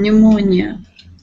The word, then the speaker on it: pneumonia: every time we have the knen we don't pronounce the k all about P like in pneumonia right yeah so that's another pattern which is